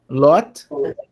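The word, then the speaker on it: לוט: Geralmente nas nossas traduções ele aparece como Ló apenas, né? Ló. Mas em hebraico é Lot. Lot.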